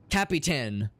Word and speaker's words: Capitan: Not Captain Perkins. Capitan Perkins. 3 syllables, count them.